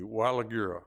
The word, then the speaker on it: Waligura: Let me pronounce correctly. Wigura.